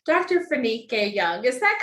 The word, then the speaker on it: Fanike: into this conversation and I really hope I pronounced your name correctly Dr phenique Young is that correct oh that is it